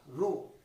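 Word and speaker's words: rho: রো উচ্চারণটা হলো রো।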